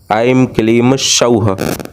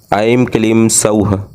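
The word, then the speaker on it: ऐं क्लीं सौः: यह त्रिअक्षरी बीजों से माता श्री बाला सुंदरी जी का मंत्र बनता है, ऐम क्लीम सौह, ऐम क्लीम सौह। एक बार उच्चारण को आप पुनः ध्यानपूर्वक अवश्य सुने। ऐम क्लीम सौह, ऐम क्लीम सौह।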